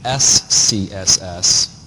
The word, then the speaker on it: SCSS: the extension s CSS which you can see why this is really hard to say and it's spelled out when you refer to it so you actually say oh it's an scss file the original syntax came